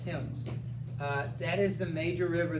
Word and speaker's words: Thames: So think of the word T-I-M with an S on it, Thames.